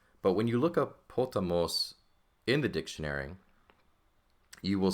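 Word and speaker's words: ποταμός: Now, the accent is going to go on the last syllable. Now, you have not seen this yet, so this is somewhat new. But when you look up potamos in the dictionary, you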